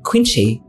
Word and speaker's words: Quieenchye: Tapi ejaannya tuh pakai QUIEENCHYE. Nanti baca namanya Quincy.